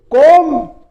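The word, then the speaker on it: comb: फिर देखिए कोम। कोम इसमें बी साइलेंट रहता है। बहुत से इसको क्या बोलते? कोम्ब बोलते हैं। कोंब कोम्ब नहीं होता है। यह कोम होता है।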